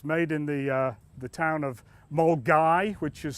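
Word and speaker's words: Milngavie: It's made in the town of Mulgai, which is spelt Milngavi but pronounced Mulgai, and it's actually quite a picturesque little town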